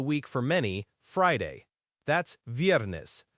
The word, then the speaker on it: viernes: That's viernes, V-I-E-R-N-E-S, pronounced miércoles.